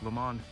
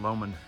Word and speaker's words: Lomond: at the shore of Lake Lemon. And I guess they pronounce it Lomond.